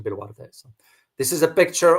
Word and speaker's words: Boluarte: So President Dina Boluarte, or you pronounce it in the Spanish pronunciation, Boluarte.